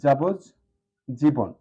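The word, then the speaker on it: যাবজ্জীবন: এটাও লক্ষণীয় যাবত জীবন তাহলে ত এর পরিবর্তে আরেকটি জ্ব চলে আসবে যেহেতু আর ডান পাশে কি আছে জানেন যাবজ যা যাবজ জীবন যাবজ জীবন একসাথে যখন উচ্চারণ করব তখন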